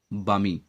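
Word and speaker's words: balmy: चलिए next word आपका है बामी। तो एल यहाँ साइलेंट है, तो बामी का मतलब होता है आनंददायक।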